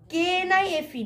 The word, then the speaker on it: knife: ni if a knife k is silent h o u are